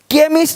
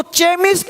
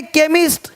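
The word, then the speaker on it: chemist: केमिस्ट, अब इसको चेमिस्ट नहीं पढ़ेंगे, चेमिस्ट। चोपड़ा को कोपड़ा नहीं पढ़ेंगे, इसको चेमिस्ट नहीं पढ़ेंगे, केमिस्ट।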